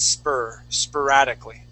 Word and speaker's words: sporadically: Now, even though it has an OR, okay, we would pronounce that sporadically.